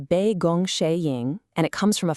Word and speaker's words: 杯弓蛇影: This one is pronounced Be Gong Shing, and it comes from a fascinating tale about a mysterious illness and a very surprising cure.